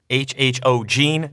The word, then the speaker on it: HHOGene: the comments section which one you would choose HHO Gene that is how you pronounce the company name this is pretty cool